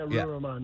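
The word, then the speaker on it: Ruwa Romman: Uh state rep Rua Raman, am I pronouncing that correctly? Yeah. Yeah. Ru Raman.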